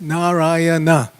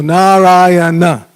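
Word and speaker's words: Nārāyaṇa: Every syllable is pronounced, and there's no stress on any syllable unless there's a diacritic mark. So, na or na if it's a long A. So, Narayana.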